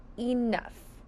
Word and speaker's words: enough: Next, we hear an uh which sounds like a short U, but it's spelled with an O here. N. Now, we hear an F, but in this case, it's spelled with a gh. Very tricky. This is the word enough.